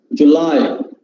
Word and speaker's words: July: okay okay fine uh because generally people especially tamilian should read this word as july first syllable uh itself we just uh video long syllable the first syllable is short row july the stressed part comes in the second syllable july it is especially for